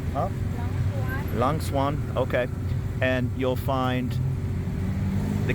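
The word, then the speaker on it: Lang Suan: Is it Leng Swan? Is that how you pronounce it? Yeah, she says. Huh? Lang Swan.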